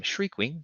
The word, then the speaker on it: Shriekwing: say his name different i call him shriekwing because he shrieks and uh difficulty wise